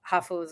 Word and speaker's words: hafu: Hafus are what Japanese call mixed people. It's English, it's half, but in Japanese pronunciation, hafu.